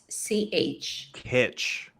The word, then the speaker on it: kitsch: yeah, it's called quiche. yeah. It's it's like classical painters and founded in 1998, I guess. Mhm. But it's spelled KITSCH. Kitsch. Yeah, and it's Kitsch, like yeah.